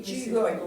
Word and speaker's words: Qigong: Ben, c'est un Q, mais Qigong.